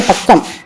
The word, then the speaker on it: बाग: அடுத்தது அடுத்த பக்கம் பிருஷ்ட சங்கியா 33, பக்கம் எண் 33. ये शेखर का बाग है, सॉरी ये स्कूल का बाग है, ஸ்கூல் கா பாக் ஹே, இது பள்ளிக்கூடத்தின் தோட்டம்.